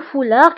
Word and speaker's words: foulard: أيضا le foulard كنكتبوها بالد في آخر الكلمة ولكن لا تنطق.